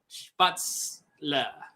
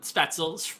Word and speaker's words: Spätzle: So, we're going to be learning how to make the, if I say it correctly, spätzle. Not spätzle, spätzle.